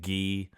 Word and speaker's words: Guy: as we would say guy in the film they pronounce it Gee.